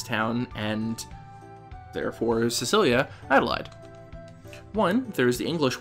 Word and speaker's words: Adlehyde: for today and that's the alternately Adelaide as I'm pronouncing it which is probably the correct um does he visit